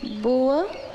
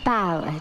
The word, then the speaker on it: bower: Some of the words, like this word boa. I know what bow means. It's pronounced bower, dear.